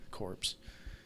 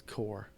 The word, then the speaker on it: corps: keep calling that core corpse that's hilarious it's core it's a French word it's core and the pns are silent I don't know why